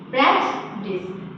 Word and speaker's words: prejudice: इसका प्रोनाउंसिएशन समझिए, प्रेजुडिस, you silent, है ना।